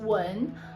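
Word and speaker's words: 文: This one in the middle, it pronounced wen.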